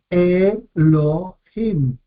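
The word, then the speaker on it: אֱלֹהִים: que yo utilizo generalmente, es Elohim, tres sílabas. Acá tenemos un Hatef Segol, es un Sheva compuesto, una E corta, muy breve. Entonces, si la consideramos como una vocal que puede tener su propia sílaba, Elohim, tres sílabas, pero según este criterio divide en dos, Elo y Him, porque considera una vocal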